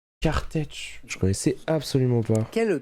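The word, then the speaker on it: Kertész: Ça s'écrit K-E-R-T-E accent aigu S. Kartech.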